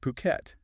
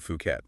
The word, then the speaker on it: Phuket: And just so we're all on the same page, it's pronounced Phuket. Yeah, definitely not Phuket. That's how locals say it, Phuket.